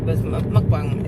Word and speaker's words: mukbang: south like me but she calls it mukbang or a mukbang i forget how she got mukbang is how it's pronounced but it's and she's